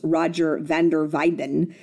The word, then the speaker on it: Roger van der Weyden: It's actually pronounced Roger van der Weyden. The W is silent, very much like my maiden name. It's pronounced with a V.